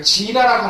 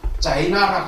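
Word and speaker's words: Jina: 혹시 여러분께서 아시는 우리가 지나라고 하는데 이것을 영어 표기로서 자이나라고 합니다. 여러분 들어보죠. 인도에 자이나교가 있습니다. 그래서 여기서는 깨달은 자를 갖다가 자이나라고 합니다. 근데 이제 인도말은 이것이 영어로 이렇게 표기하고 있습니다만 그러나 인도 산스크리트는 지나라고 이야기합니다. 지나.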